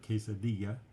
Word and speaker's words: quesadilla: The two L's just like in the word quesadilla is pronounced like a Y in Spanish.